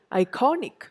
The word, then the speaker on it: iconic: So it is iconic. I don't say iconic. I don't say iconic. I say iconic.